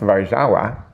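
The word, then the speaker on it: Warszawa: in the city Warsawa, which in Polish is pronounced varawa, which I thought was pretty cool.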